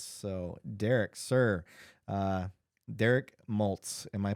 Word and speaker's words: Maltz: tuned for this so Derek sir uh Derek moltz am I pronouncing that correctly yes okay uh born and